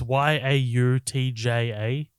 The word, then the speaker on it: Yautja: But I also read that this is supposed to be a different tribe of, I think they're called Yautja or Yotja. I don't know how to pronounce it. It's Yautja.